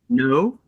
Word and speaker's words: Naud: Yes, you pronounce it his Naud name, Naud.